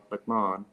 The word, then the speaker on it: McMahon: But they go Gerald or Jerry, McMahon, and I don't know. I didn't think it would be that difficult of a name to pronounce, but apparently, in this country, it is. In the UK, where I'm from, and Ireland, it's a little bit different. They say Gerard McMahon. There's no H pronounced, rather in it.